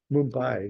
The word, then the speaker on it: Mumbai: somehow couldn't get that in my brain right Mumbai yeah so it's if you go I guess I haven't been there but if you go Inland from Mumbai there's a there's a land for there like